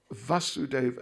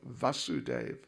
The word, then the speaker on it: Vasudeva: it very slightly so krishna's father is vasudeva vasudeva a short a vasudeva and therefore his name in relation to his father is vasudeva with a long a vasudeva is the son